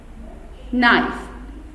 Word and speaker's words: knife: Knife. K is silent.